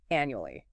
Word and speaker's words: annually: First, annually. A n u a l y. Annual la. Four syllables. Stress on the first means once a year.